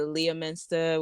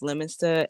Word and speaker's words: Leominster: will say Leominster when it's Leominster, and I think the only reason it works for me is because I have a New York accent, and Yeah.